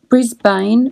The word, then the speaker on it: Brisbane: correct way is Australia some Americans pronounce Brisbane Brisbane which is how its belt but Australians easily just say Brisbane the same we say